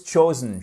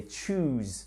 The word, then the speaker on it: chose: And remember to pronounce they chose, not they choose.